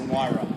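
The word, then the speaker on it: Huayra: So how many actually you're with the company, you pronounce the flipping thing. It's a Wyra.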